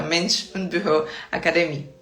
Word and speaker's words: Mensch und Büro Akademie: Mas a gente fala que no final do curso tem uma prova oral para que todo mundo possa falar o nome do seu certificado com a pronúncia correta. Mensch und Büro Akademie, tá?